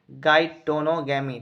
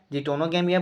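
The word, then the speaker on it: geitonogamy: तो इस प्रकार के पोलिनेशन को अपन बोलते हैं गाइटोनोगैमी, ठीक है, गाइटोनोगैमी, इसका प्रोनाउंसिएशन अलग अलग हो सकता है, जिटोनोगैमिया बोल सकते हो, गाइटोनोगैमिया बोल सकते हो, है ना।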